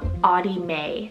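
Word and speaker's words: Ottie Mae: a double barrel name and that's the name AI May spell oot t t i e and then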